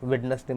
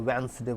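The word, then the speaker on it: Wednesday: बातचीत करते हैं ना, वेडनेसडे मत बोलो, वेंसडे बोलो।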